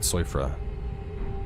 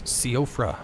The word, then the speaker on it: Siofra: Yeah, I kept calling it Soifra. And in the Let's Play, and people are like, no, it's not Soifra, it's Siofra.